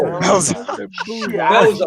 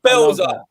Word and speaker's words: Bielsa: You pronounce it Belza. You get what I'm saying, bro? If I was in, where's he from? Argentina. If I was in Argentina, maybe then I would pronounce it the way they pronounce it, innit?